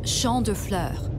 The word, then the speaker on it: Champs de Fleurs: just like I imagin Champs de floors how do you say that it's Shand FL it means fields of flowers this is the place